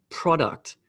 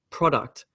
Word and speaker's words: product: depends so for example the word product product pro gets this the emphasis and duct gets the smaller emphasis product but then we have